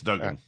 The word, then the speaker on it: Duggan: I don't actually know if it's pronounced Duggan or Duggan, but then I'm going to go with Duggan. it's Duggan.